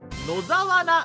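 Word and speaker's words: 野沢菜: Uh, just make the first one a kanji and you can read it as four syllables. Alright, should I show you the right answer? Yeah. Yeah. The right answer is... Nozawana!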